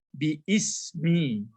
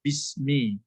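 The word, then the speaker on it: بسم: Aslinya sebenarnya bi-ismi. Tapi dia hamzahnya tidak dibaca bismi. Itu makanya seperti ini. Menjadi bismi ya.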